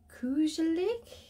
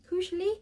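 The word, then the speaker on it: koselig: theme is uh causally i'm gonna butcher that word i think it's pronounced crucially crucially it's a norwegian word and again i'm not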